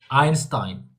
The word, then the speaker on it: Einstein: Einstein.